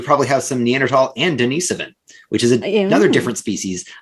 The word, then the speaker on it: Denisovan: Wait, but we do have Denisovan. How do you pronounce that? Denisovan, yes.